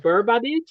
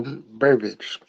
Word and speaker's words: Burbidge: it correctly so is it BB oh yeah well Burbage okay bage but you said my